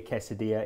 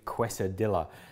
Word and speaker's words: quesadilla: When we see 2 L's, we have to go 2 L and back not to pronounce them.